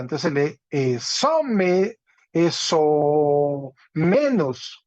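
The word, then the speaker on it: ἐσόμενος: Entonces se lee eso menos, eso menos. ¿Sí? Tiene un espíritu suave en la épsilon y un acento agudo en la ómicron.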